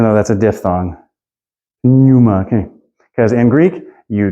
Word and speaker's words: pneuma: You can say pneuma, but that's really clunky, so it's almost always going to come out like pneuma, even though that's a diphthong. Pneuma, okay.